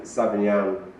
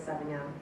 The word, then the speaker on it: Savagnin: It sounds a lot like Sauvignon and looks like Sauvignon. I've had so many people come up to me and go, are you pronouncing Sauvignon wrong? Oh no, it's a different grape.